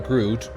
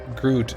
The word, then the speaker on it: groot: for example um like a double o for us is pronounced like an o like in both you can say that like for example i am groot groot is actually like g-r-o-o-t